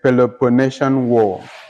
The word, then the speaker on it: Peloponnesian War: In the midst of the Peloponnesian War.